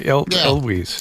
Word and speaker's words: Elwes: Yeah, Elwes.